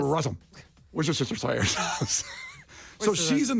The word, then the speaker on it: Rossum: Rossum. Say it fast, like Worcestershire sauce. Rossum.